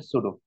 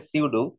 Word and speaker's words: pseudo: ঠিক আছে, এইটা হচ্ছে সুডো, ওই বলে উচ্চারণটা হচ্ছে সুডো, ঠিক আছে? দেখে মনে হচ্ছে হচ্ছে সিউডো, উচ্চারণটা সিউডোর মতোই হবে।